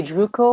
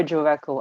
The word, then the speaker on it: Drueco: You can say Drueco or Drueco. I'm quite flexible with that.